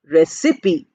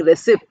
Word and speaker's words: recipe: c i p e look at the spelling and look at the pronunciation we say recipe p i e is not there py is not there but we are not saying reip we are saying recipe that is how pronunciation